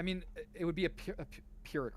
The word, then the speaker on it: Pyrrhic: I mean, it would be a Pyrrhic, right? That's how you say it in English.